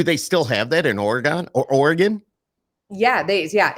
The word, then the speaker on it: Oregon: they have an oron it's Oregon you say Oregon like you leave out a okay so you leave out a whole syllable and I'm in the